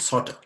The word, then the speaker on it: subtle: And many of us, many people mispronounce those words because they tend to pronounce the B's, whereas they are not supposed to be pronounced.